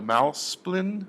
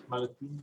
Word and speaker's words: Malaspina: Later in the program, we're going to be showing this wonderful little film by Malsplin. Is that how you say his name? Malaspina, yes, And Malaspina.